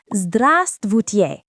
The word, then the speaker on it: здравствуйте: The formal way to say hello is здравствуйте. Don't worry if you can't get that V and ST combo right away, it takes practice.